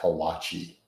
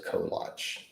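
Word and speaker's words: kolache: So in Texas, collatch places are extremely common, but they bastardize it and they pronounce it wrong. And the overwhelming majority of people call it a kalachi and it's just a collage.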